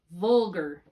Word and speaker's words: vulgar: are two syllable words so the ar is going to make an r sound so repeat after me vulgar older collar beggar nectar